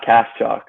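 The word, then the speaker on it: Kaschalk: It's Cash Chalk, like KS, then Chalk you right with.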